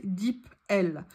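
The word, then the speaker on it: DeepL: votre téléphone qui s'appelle dip l c'est le meilleur traducteur qu'il existe ça s'écrit d e e P l comme la lettre L vous pouvez le télécharger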